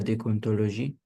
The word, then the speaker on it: déontologie: La, euh, la, la, la déontologie, non, Déon- Ouais, tu déontologie, prononces pas bien.